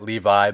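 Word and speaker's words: Leavitt: up we have Jordan leave it versus Victor Martinez so my pick for this one's gonna be Jordan leave it I know you technically pronounce it Levi but I'm kind of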